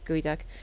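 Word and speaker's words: geoduck: yeah wait no sorry it is called a gooey duck uh it's spelled g e o d u c k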